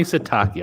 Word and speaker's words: Sitake: Kalani Sitake. I think that is how you pronounce his name, the head coach at BYU.